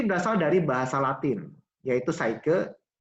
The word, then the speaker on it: psyche: Psikologi sendiri berasal dari bahasa Latin, yaitu psyche, ya tulisannya psyche, gitu ya. Psyche dibacanya, dan logos.